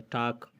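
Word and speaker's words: talk: टाक, बात करना, वाक, चलना।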